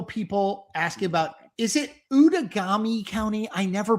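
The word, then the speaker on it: Outagamie: one but this is like you know outagami out of gamy out of gamy it's how pronounced out and hong hong is ahead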